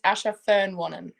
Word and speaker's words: Asher Fearn-Wannan: never happens again uh my name is Asha Fern one here we go see it's nice and basic see that's pretty plain and simple but all right now